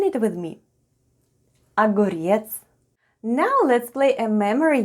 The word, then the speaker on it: огурец: and all together it's aguriets with the stress on the last syllable try saying it with me agorietz now let's play a